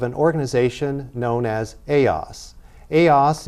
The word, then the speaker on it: ELLAS: ELLAS IS THE SPANISH PRONUNCIATION FOR THE ACRONYM ELLAS, THAT ACRONYM STANDS FOR EMBRACING LATINA LEADERSHIP ALLIANCES.